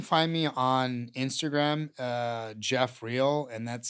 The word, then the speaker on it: Geoff Real: So, you can find me on Instagram, uh, Jeffreel, and that's spelled G E O FF R E A